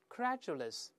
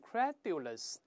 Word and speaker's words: credulous: 我们大声再读一下：credulous, credulous. 注意不要读成 credulous，因为老师说过，咱